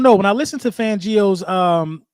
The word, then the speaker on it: Fangio: listen to fangio's um let me say his name right everybody keeps saying I'm saying his name fangio you know what I mean everybody want me to say it like um like like I'm Italian fangio when I listen